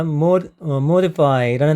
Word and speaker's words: modify: modify라는 단어가 있는데 이 modify라는 단어는 I가 발음이 주로 많이 납니다.